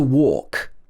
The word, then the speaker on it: walk: Learn to walk. So I pronounce this or, walk.